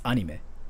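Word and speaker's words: アニメ: that the other day if you want to know how to say like anime in japanese it's anime and i think i've been saying like anime so you don't even like extend the sound like mei like this it sounds so foreign to us how we say it is like you just cut the sound like anime anime you don't say like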